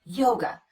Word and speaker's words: yoga: or the uh sound same thing happens with the word yoga the second syllable is unstressed we replace the letter A with the unstressed vowel the uh sound and we get away